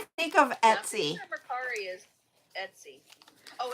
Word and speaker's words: Mercari: Because I don't know how to pronounce it. Mercari.